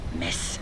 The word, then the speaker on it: Metz: here in mess and spelled MV TZ like the New York Mets well with a Z but pronounce miss something we had to